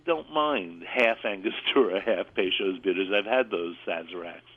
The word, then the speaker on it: Peychaud's: No wonder I couldn't spell it. P-E-Y-C-H-A-U-D apostrophe S. Peychaud's bitters.